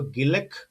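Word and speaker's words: Gilaki: इसके अलावा अगली जो भाषा है वो है आप कहिए तो गिलक। गिलक जो है गिलान में जो है गिलाकी कहिए इसे, जो इसका जो करेक्ट प्रोनाउंसिएशन है।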